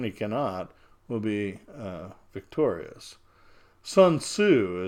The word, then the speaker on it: Sun Tzu: cannot will be victorious Sun Tzu as you would pronounce it that has my friends of China China would say since it now good old soon saw so it looks like